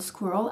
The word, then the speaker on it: squirrel: that second syllable rur in case you haven't noticed the pronounced version of the word squirrel actually only contains one very demure vowel the middle I uh the e at the end is pretty much muted leaving us with a